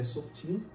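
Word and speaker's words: שופטים: E o pronúncio hebraica é Softim.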